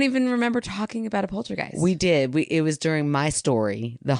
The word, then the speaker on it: poltergeist: just said it twice polter dice I said a polter dice instead of poltergeist in this week's episode